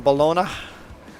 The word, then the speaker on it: baloney: to go get some balona Bal do you say balona or baloney we definitely say baloney huh fried Bal fried